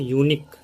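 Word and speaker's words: unique: वहीं अगर मैं बोलूँ यूनिक, यूनिक एक ऐसा वर्ड है जिसका स्टार्टिंग जो लेटर है वो है वॉवेल, लेकिन इसका जो प्रोनाउंसिएशन होता है वो कॉन्सोनेंट साउंड है।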